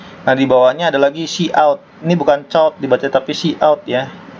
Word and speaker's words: cout: Nah, ini ada cout, bacanya cout ya, cout.